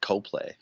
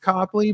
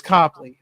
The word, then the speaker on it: Copley: from here so like she knows that it's pronounced Copley but I always say Coplay just to cople make her mad yeah but it is Copley well anyways so they